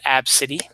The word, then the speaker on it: ABCDE: girl's name the mother named the daughter ABCDE or as they pronounced AB City and the Southwest gate